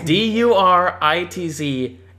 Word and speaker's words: Duritz: is DURITZ exclamation mark. What? John no, it was the other way around. It was exclamation mark DURITZ. Guess how you pronounce that? How? Duritz.